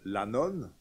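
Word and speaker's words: annone: Et aussi la préfecture de Lanon, c'est pas une dame, Lanon, ça s'écrit A-N-N-O-N, c'est le ravitaillement en blé, notamment essentiel pour une mégapole comme Rome.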